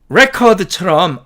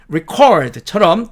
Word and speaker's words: record: 그 다음에 F번에 record, 이렇게 철자한 이 단어는 record처럼 앞쪽에 액센트를 주면 명사로서 기록이 되지만 record처럼 뒤쪽에 액센트를 주면 동사로서 기록하다가 된다라는 뜻입니다. 어려운 거 없죠?